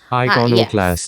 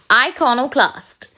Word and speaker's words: iconoclast: इनकोक्लास्ट, I'm sorry, I think I might pronouncing it wrong. Let me help you all how to pronounce it right. Iconoclast. Yes, exactly. Iconoclast.